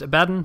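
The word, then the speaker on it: Abaddon: OS channel for more I know it's pronounced aaden but old habits die hard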